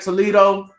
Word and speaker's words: Toledo: I said it right, Toledo, Yep.